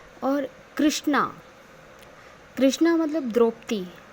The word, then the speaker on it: कृष्ण: पीतांबर है और कृष्णा कृष्णा मतलब द्रौपदी जो द्रौपदी थी उनको कृष्णा बोलते थे क्योंकि वो कृष्ण भगवान की सखी थी इसलिए प्रोनाउंसिएशन में हमेशा कृष्ण का उच्चारण करिए ना कि कृष्णा का क्योंकि अगर कृष्णा